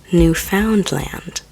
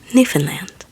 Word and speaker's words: Newfoundland: Important to remember if you want to impress a Canadian is that it's not pronounced new found land, but altogether Newfanland.